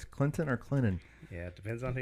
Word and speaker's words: Clinton: presbyterian college down in clinton south carolina that's where the t is sweet and the t is silent i don't know if